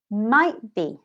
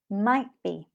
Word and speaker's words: might be: Might be. We link them, and you don't hear the T. Might be.